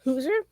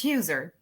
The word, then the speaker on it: Huser: Today's guest is Amy Hooser. And did I pronounce that right? Close. It's Huzer. Hooser.